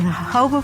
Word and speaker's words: jojoba: medicine chest will discuss jojoba the miracle plant of the desert jojoba is spelled jo-jo ba but is pronounced according to its Spanish origins the hobo plant grows in the